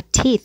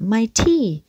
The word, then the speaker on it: teeth: Và teeth là âm y căng. Nhưng ngay sau đó lại có âm sờ.